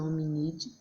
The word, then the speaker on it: Hominidae: Apesar dessa descoberta, a classificação zoológica do homem atual permanece inalterada, pertencendo ele ao status Chordata, Mammalia, Hominidae, né, que a gente pronuncia hominide, Homo e Homo sapiens, os quais se referem respectivamente a.